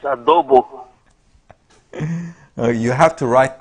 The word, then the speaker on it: adobo: If I come to the Philippines, I want some odobong. Okay. You guys got me hungry now. I haven't had breakfast. It's adobo.